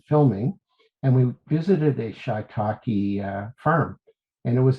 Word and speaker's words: shiitake: Some people say shiitake or shiatake. I think shiitake is more correct. Um yeah, it's got two eyes there, so it kind of fools you.